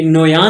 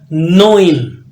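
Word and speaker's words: neun: जीबन नेक्स्ट आपके पास नाइन आखत आखत नाइन नोइन नोइन य नोया नहीं है मंगोल कमांडर नहीं है नोइन नेक्स्ट आपके पास न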